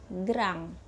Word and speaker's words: grand: kalau dalam bahasa Perancis penulisannya itu grand2 Pi dibacanya gram sedangkan kalau ke pendek tulisannya pethit tapi dibacanya